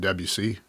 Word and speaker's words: Debussy: different genres classical it's Mozart and Schubert and Debussy I never knew that's how you pronounce de Busey and then in in rock obviously I mean